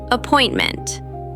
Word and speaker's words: appointment: Appointment. Up-point-mint. Appointment. The stress is on point.